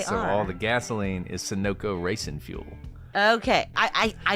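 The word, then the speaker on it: Sunoco: don't ever know how to say this name sonoko sonoko is that right yeah you know why I know that why because in NASCAR sonoko is the sponsor and so all the gasoline is sonoko Racin fuel okay I I I see it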